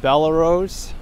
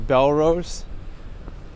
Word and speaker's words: Bellerose: avenue oh michael peterson this is bella rose not bellerose i don't know i've heard it pronounced the other way my entire life so i've never heard it as belarus but maybe the person's